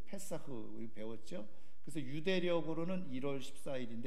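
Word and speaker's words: פסח: 그래서 2022년도 그래서 여기 6월절 해가지고 패스오버 히브리어 발음으로는 페사흐 배웠죠 그래서 유대력으로 1월 14일인데 이게 유대력 이라는게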